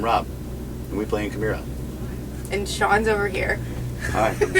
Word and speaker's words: Chimaira: Hi, I'm Rob, and we play in Chimaira. And Sean's over here. Hi, I'm Sean. And you are? Denise. Hello. Hi. So wait, to start off, please pronounce your band name. Chimaira or Chimaira, whichever you prefer, tomato.